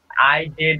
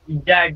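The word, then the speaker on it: Izod: আর একটা আছে উচ্চারণ কি হয় স্যার, আই জেড ও জি ও ডি ইজাড না কি হয় ওটা? আইজড উচ্চারণ ওটা, ওটা একটা চারপি টেস্ট, আইজড ইম্প্যাক্ট টেস্ট বলে ওটাকে, আইজড ইম্প্যাক্ট, ঠিক আছে?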